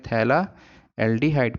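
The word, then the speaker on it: phthalaldehyde: 1 2 position है, तो तब उसको बोलते हैं थैला एल्डिहाइड। पी साइलेंट होता है यहाँ पे।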